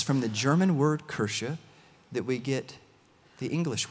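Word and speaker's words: Kirche: language I apologize okay I looked this up in a pronunciation guide online I think it's right maybe okay but kersha I think is how you say that and so they're building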